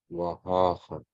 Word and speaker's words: Wahacha: Wahacha. Wahacha. You have to drag out the first syllable, otherwise you're in the wrong mode. You're in the active mode instead of the passive mode.